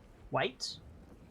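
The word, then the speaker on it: wight: them sorry i really don't like their name white yeah w-i-g-h-d just the pronunciation like without context is it my accent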